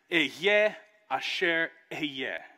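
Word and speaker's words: אהיה אשר אהיה: And when he says, I am who I am, in Hebrew, you would pronounce it, Eyeh Asher Eyeh.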